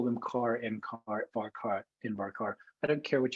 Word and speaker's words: varchar: call them car, ncar, varchar, nvarchar. I don't care what you call them as long as you know what I'm talking about. I just happen to pronounce them with a ch sound.